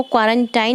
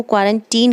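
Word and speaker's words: quarantine: तो आप इसका जो प्रोनाउंसिएशन है उसको क्वारंटाइन नहीं कहेंगे, उसको क्वारंटीन कहेंगे।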